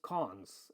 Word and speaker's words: cons: Okay, and it's pronounced cons, which is available from Lisp.